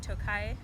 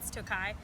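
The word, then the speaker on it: Tokaji: of Hungary's of Hungary's Tokai region - Kies tio kha so so gosh you might think it's pronounced took I have a Hungarian co-worker who informed me so Tokai 2015 from Hungary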